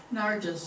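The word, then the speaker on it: Nyerges: Alex, terrible time pronouncing his name. Nargis is the correct pronunciation. I've been mispronouncing it, but I just recently learned the right way.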